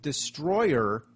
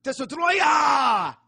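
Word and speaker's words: Destoroyah: The name of the monster, surprisingly, isn't Destroyer, it's Destroyer. Yeah, that's the official name. Destroyer. It's spelled just like that.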